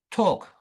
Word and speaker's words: talk: And then the word talk L. Yes, it is the L actually.